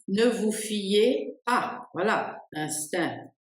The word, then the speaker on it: instinct: Instinct, instinct, instinct. On ne prononce ni le c ni le t.